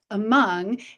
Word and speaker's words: among: We have a heart under the A, because the A is actually a schwa, that among.